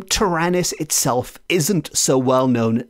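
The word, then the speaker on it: Taranis: very very quick language lesson but the name tyrannis we are told which is spelled t-a-r-a-n-i-s is handed down as one of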